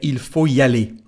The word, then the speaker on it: il faut y aller: So here we have something to say about the pronunciation. We've got a letter T. So if you want to make the liaison, there's no problem. You can say il faut y aller. But Most people in France say il faut y aller. Il faut y aller without pronouncing the letter T.